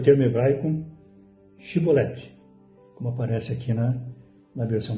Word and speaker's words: Xibolete: Se respondesse que não, os homens de Gileade lhe diziam: então diga Shibolete. Se ele dizia Sibolete, qual a diferença? Shibolete. Mas se ele dizia Sibolete, não podendo pronunciar corretamente a palavra, eles o agarravam e matavam nos vales do Jordão.